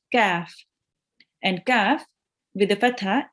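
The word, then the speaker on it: ك: Kaf. Well done. And a kaf with the fatha is pronounced Ka.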